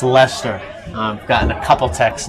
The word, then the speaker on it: Leicester: It is pronounced Lester. I've gotten a couple texts now about my misprononunciation of Leester.